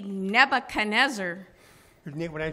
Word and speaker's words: Nebuchadnezzar: Nebuchadnezzar. Well, that was close. You got an extra little syllable in there. That would be Nebuchadnezzar.